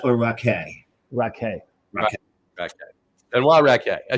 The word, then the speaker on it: Racquet: some time is it raet or raake raake ra ra and ra I should have known not pronouncing the T it's exactly like cha